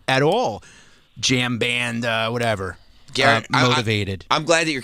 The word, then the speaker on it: Garrett: What's up, Jarrett? Hey, it's Garrett. Troy thought it was a J pronounced like I thought his name was Jared at first.